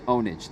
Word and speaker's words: Pwnage: pwnage his name is ownage the P is silent but what you're such